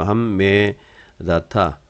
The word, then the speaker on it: 함메다타: 이는 하만 여기는 중복음이죠. 함메다타 두 번 발음해야 되죠.